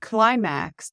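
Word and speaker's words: Klymaxx: Number 14 is I miss You by Climax, and Climax is spelled K L Y M A X X.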